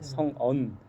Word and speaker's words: 성언: 네, 교회 이름을 그렇게 적고 사람들이 처음에는 발음이 좀 어렵다 그러더라고요. 그래서 성언, 성은이냐, 성안이냐. 근데 성언이라는 이름은 교회는 잘 들어보지 못했고 발음이 좀 어렵다고 하더라고요.